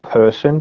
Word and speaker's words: Purson: And that's called Person, but it's spelled Purson.